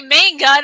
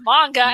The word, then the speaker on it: manga: no one ever pronounced i used to say main gun everyone's like no it's manga maybe rich people that